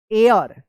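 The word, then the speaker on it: heir: आर यू E true एयर एच ई आई आर क्या होगा एयर इसको हेयर मत पढ़िएगा एयर पढ़ेंगे एच यहां पे जो है ना साइलेंट रहेगा of this village the ओल्ड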